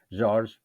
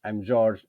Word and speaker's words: Jorge: I'll just start by explaining why my name is pronounced Jorge, because I'm originally from Portugal, where Jan is currently living, and so we pronounce the J like in English, so like John, Joseph, James, and so that's why I'm Jorge and I'm not Jorge.